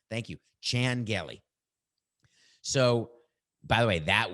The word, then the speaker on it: Chan Gailey: So Chan and Shan, maybe, is that how to say it, Coca? Channel. It's amazing. I mean, we couldn't prepare for this because, like Jackie Chan. Thank you. Chan Gailey.